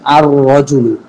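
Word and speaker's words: الرجل: রজুলুন, এই শুরুতে আলিফ লাম যোগ করলে হবে আর রজুলু। আলিফটা সরাসরি রকে গিয়ে ধরবে, লাম মাঝখান থেকে বাদ হয়ে যাবে।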